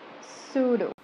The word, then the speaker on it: pseudo: Number five, pseudo.